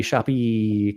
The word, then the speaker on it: Shopee: So for those that aren't following the Shopee Cup, and that's how we have to pronounce it, you have to say all of the E's properly.